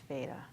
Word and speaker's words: Veda: It's Veda. It's Veda. I always have to think about Darth Vader, but like in a New England kind of way.